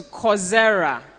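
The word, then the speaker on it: Coursera: if you go to coera it's course like a course you study okay so c o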